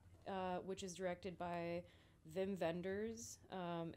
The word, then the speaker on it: Wim Wenders: which is directed by Vim vendors um in German they're W's but it's German so you pronounce it VI vendors um he directed Paris